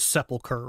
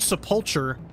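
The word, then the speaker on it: sepulchre: Okay, so obviously we all know that that word is sepiler, right? When I was a child, this is the only time I had seen that word in my life. So I pronounced it seulture until at some point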